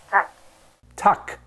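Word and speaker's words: tack: thank you in Swedish in Swedish that's tuck tuck well now I know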